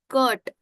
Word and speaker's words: curt: So it's not cut but it's curt.